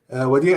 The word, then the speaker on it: Wadih: is that how it's pronounced? Yes, yes. Hi, everyone. Yes, last name is. My first name is Wadih. Wadih is a Christian name.